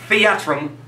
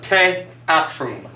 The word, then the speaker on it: theatrum: The pronunciation of that word in Latin would not be theatrum, but teatrum. Teatrum.